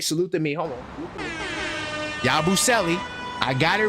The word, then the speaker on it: Yabusele: I got the pronunciation right. Salute to me. Hold on. Yabusele.